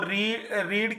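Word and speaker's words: read: तो रीड की third रेड होती है, हाँ स्पेलिंग यही लिखी जाएगी, प्रोनाउंसिएशन रेड होगी।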